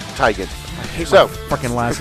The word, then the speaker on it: Teigen: But we pronounce it Teigen.